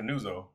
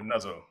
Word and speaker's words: Nuzzo: before she got here all I heard was Jennifer nuzzo but it's actually Jennifer nuzzle okay so I want